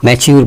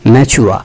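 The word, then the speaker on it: mature: ম্যাচিউর বলি আমরা, উচ্চারণটা এরকম হয় ম্যাচুয়া।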